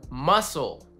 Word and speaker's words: muscle: Or muscle. We don't need that C there at all. Muscle.